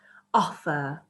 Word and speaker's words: offer: Offer. So I have to really stress the first syllable, offer, but the second syllable isn't as stressed.